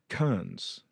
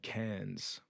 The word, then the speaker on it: Kearns: So here we are with John Kearns. I've been mispronouncing your name for years. I've been saying Cairns.